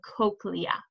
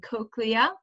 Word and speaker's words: cochlea: That's called the cochlea. Okay, so this is pronounced cochlea or cochlea, but usually people say cochlea.